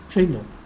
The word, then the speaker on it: Shaindel: I'm pronouncing it correctly? Shaindel.